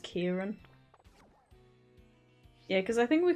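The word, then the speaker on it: Ciarán: It's spelled Kiaran, like with a C, but I think it's pronounced Kieran.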